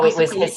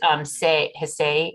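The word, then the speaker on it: Hsieh: Is it Ilsa? No, Ilsa it was Hsay, H-S-I-E-H, I think.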